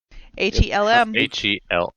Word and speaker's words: Helm: Helm. HELM. Like a helm. Like Helm. Like a helm. Okay. Like yeah, Helm's Deep, but without the Z deep.